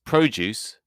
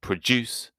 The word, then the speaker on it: produce: An address is the place where someone lives, while to address someone is to talk to them. To produce is to make something, whereas produce is the things you made. A good tip for this confusing problem is that If the stress is on the second syllable, so address or produce, it is usually a verb.